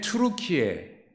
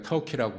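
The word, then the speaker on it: 튀르키예: 갈라디아는 지금의 투르키에, 예전에 우리가 터키라고 불렀던 나라지요. 나라가 달라진 게 아니라 본래 발음대로 투르키의 수도인 앙카라 지역이 갈라디아 지역이에요.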